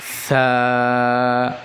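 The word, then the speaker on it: ث: আলিফ, বা, তা, সা। সা উচ্চারণের সময় জিহ্বার আগা সামনের উপরের দুই দাঁতের আগার সাথে লাগবে।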